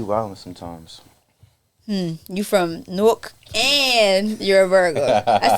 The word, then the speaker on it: Newark: Lord I'll be Wilding sometimes hmm you from Newark and you're a Virgo I said it right